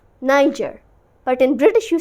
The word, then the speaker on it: Niger: of this word so in American you say Niger Niger but in British you say Niger Niger I want to